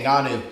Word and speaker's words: Ngannou: Ngannou? Yeah, Ngannou.